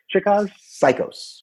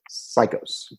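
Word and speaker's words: Cichosz: Psychos. Really? Yes. Like psycho? That's like awesome. Psycho with an S. Psychos.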